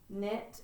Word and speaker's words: knit: so when we write the word knit it also starts like the word no it has a silent K or in the word me it has a silent K so it's just kind of weird when you see the K and together that K is going to be silent right like I knew the